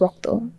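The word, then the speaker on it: রক্ত: pronounce certain words so in Bangla the way we say blood is Rock though um and I guess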